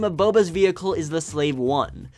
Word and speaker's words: Slave I: is troubling some fans it's written out as SL a ve eye this is split people apart something that should